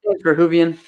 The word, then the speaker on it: Verhoeven: Verhoeven.